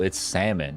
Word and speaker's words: salmon: I used to pronounce that word salmon. Like you eat salmon. Oh, cool. But it then somebody was like, "Bro, it's salmon."